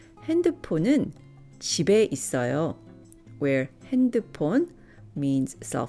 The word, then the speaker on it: 집에: 핸드폰은 집에, which will be pronounced 집에 있어요.